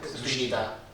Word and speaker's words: sdrucita: Sdrucita. Senza l'accento finale.